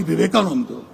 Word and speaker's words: Vivekananda: Mani spoke at length about Swami Vivekananda. Of course, he got one thing wrong. It is pronounced Swami Vivekananda, but Hindutva wasn't created.